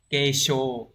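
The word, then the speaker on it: 軽傷: Kesho. Chứ không phải là so này.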